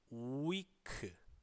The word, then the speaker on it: week: week 우리 말 뜻은 일주일이 란 뜻인데요 실제 발음은 위크 위크 따라해 보세요 5 이크 윅 입술을 쭉